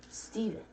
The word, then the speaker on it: Stephen: fulfill the itch dash stephen the ph makes a v sound look at that jazzy someone someone figured out how to actually properly like pronounce steven because it's their name